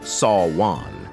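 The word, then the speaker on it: Samhain: ago with the Kelts who celebrated Sam Hine pronounced sa Juan the festival marking the end of harvest and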